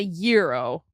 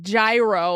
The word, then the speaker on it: gyro: American flag and you're giro. It's a euro. I mean, okay. You could pronounce it gyro like gyro.